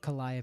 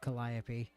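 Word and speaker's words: Calliope: I like that I accidentally went to the corona pronunciation of Collia instead of the obviously correct one of Collopy. I was just like Caliop.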